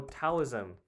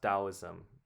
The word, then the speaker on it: Taoism: I I would have thought it would be Oh, taoism, but it's pronounced dowoism.